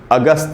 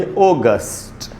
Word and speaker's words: August: देखिए ग में जो अ है उसी पर स्ट्रेस है, उसको अंडरलाइन किया मैंने, वहीं पर स्ट्रेस है, पढ़ेंगे अगस्त। इसको अगस्त हिंदी में बोल सकते हैं आप, इंग्लिश में बोलना चाहिए अगस्त, अगस्त।